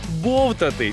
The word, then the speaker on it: бовтати: бовтати бовтати бовтати тактак у слові бовтати наголос на перший склад бовтати Ну і другий наголос